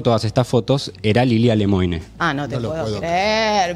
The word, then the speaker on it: Lemoine: lemoine Más allá de los chistes de Lil lemoa que que son recurrentes no se pronuncia así se pronuncia lemoine porque es de no no está perfecto porque